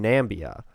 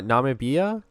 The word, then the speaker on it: Namibia: uh credit predatation and competition for example in nambia uh uh Namibia nambia okay you may pronounce that wrong they're also invasive species in